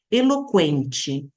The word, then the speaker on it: eloquente: buraco perfuração abertura orifício trema esse par de pontinhos usados sobre o u depois do q e g para indicar que ele não é mudo separa duas vogais de um ditongo exemplo eloquente a parece o u e o e eloquente eloquent Elo comquem